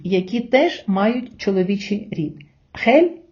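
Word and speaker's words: gel: теж мають чоловічий рід хель і голь Отже правило таке літера х читається майже як українська х перед голосними е та і А перед голосними а у у вона читається як г Друзі а тепер давайте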